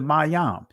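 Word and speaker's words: מם: This is the Mayam. In the Israeli, it's pronounced Mem, but we're just dealing with ancient Hebrew.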